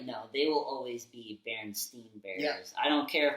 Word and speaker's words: Berenstain: Berenstain Bears. Yeah, Stain. I'm not calling them that. Yeah, I was like, no, they will always be Berenstain Bears.